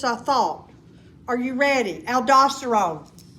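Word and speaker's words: aldosterone: Aldoststerone.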